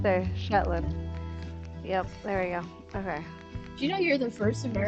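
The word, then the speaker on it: Shetland: Do you know you're the first American to actually pronounce that correctly? Sh Jetlin. Yeah. You're the first person to say it correctly.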